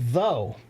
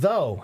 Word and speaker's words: though: example uh the word though the word though how many people hate that word because of how many silent letters it has I don't even usually